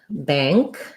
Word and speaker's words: bank: Okay, and then we have a request for bag and bank.